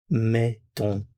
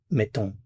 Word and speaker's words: mettons: Now, there's going to be a change here in the sound in the vowel.